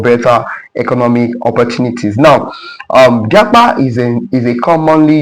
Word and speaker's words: japa: Now one of the words that Offord actually added to their dictionary is Japa.